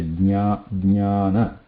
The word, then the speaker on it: jnana: After ja, pronounce ya as a sanyukta akshara. So when you say jnana, jnana, so it is not, we should not be adding na there. It should be adding ya, jnana, or yajna, yajna, yajna, yajna.